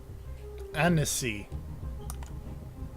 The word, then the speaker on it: Annecy: Annecy. Not Annecy. Like Tennessee, but Annecy.